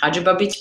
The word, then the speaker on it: Hadzibabic: Um, my last name is pronounced Hajabich, but don't let that stress you out.